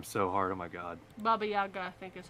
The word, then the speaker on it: Baba Yaga: okay yeah i think that's it yeah the baba yada yeah i'm about to butcher that name so hard oh my god baba yaga i think is how it's pronounced yeah baba